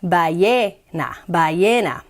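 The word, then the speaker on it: ballena: words at the back yena with with which is whale which is a great word and it has two l so the two else are pronounced like a y by ye na isn't that interesting spanish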